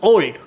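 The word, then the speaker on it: Olde: It is not old as you spell it. It is old as it was spelled in the Shakespeare era. O-L-D-E. E is apostrophe and E is silent.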